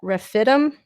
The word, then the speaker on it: Rephidim: Then Amalek came and fought with Israel at Rephidim.